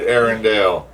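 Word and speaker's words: Arendelle: I found that interesting it's said Arendale Aaron Dell it's like it's a slightly different way of pronouncing it yeah at least I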